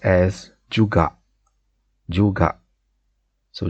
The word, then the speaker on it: juga: the malay translation and often you hear it pronounced as juga juga so juga or juga is how we say it and